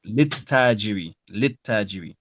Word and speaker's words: للتاجر: And as the ta is a sun letter, it means we drop the second lam in pronunciation. So we say lit-tajiri.